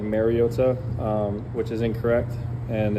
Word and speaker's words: Mariota: People have called him Mariota. It it's not it's not as though he is a plumber in an N64 game. He kind of gave pronounced Mario. There's a little T in there.